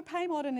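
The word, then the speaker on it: Pei Modern: that used to be Pay Modern Restaurant. Correct me if I'm wrong in terms of that pronunciation there. No, Pay Modern is right, Leanne, and in fact,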